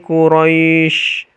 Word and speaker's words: Quraisy: dua harakat saja liilafi Quraisy cara bacanya Quraisy jadi rynya itu lembut kemudian panjangnya boleh dua